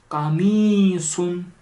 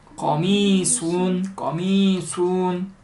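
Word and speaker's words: قميص: 어느 요리든 뭐 인도 요리도 그렇겠지만 그래서 이건 까미순. 수하니까 수 해야겠죠. 까미순. 까 아니에요. 꺼예요. 거미순.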